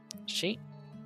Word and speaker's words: し: し Sheet. This is she or she. Pronounce it as she, like in the word sheep.